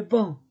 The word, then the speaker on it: banc: Le garçon, le crayon, le banc, je ne prononce pas le C, le banc.